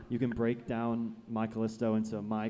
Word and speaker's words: My Callisto: pointed that out to me because they were pronouncing it My Call Is To, and I'm like, what are you talking about? And it was like, isn't that y'all's name? And I'm like, no, it's My Callisto.